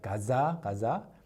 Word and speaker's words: 가즈아: If you actually pronounce it like that, 가즈아, it's not the same thing that people imagine. So you have to say it like 가자.